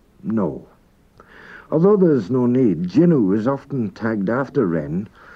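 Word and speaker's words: jannoo: It looks like Janu, and at one time it was Janu, and I have actually heard it pronounced Janu by certain native speakers, but it's now pronounced by everyone Jinu.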